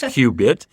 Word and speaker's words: CUbit: the Cubit Quantum initiative spelled CU bit and pronounced qbit um and so in